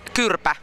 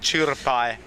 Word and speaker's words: Kyrpä: The next album is called Kyrpä. Really? Sorry. For all the guys out there who don't speak Finnish, what does it mean? It's old Latin. It's spelled like CYRPEA, like chirpai.